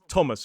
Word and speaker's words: Thomas: Well, certain words pronounce it as a th like the river temps and Thomas.